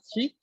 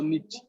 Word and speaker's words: 日: Mientras que el kanji de día se va a leer hi o nichi, dependiendo, o ka.